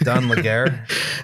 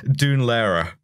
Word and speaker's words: Dún Laoghaire: Is it Dun Laguerre? Dun Laoghaire.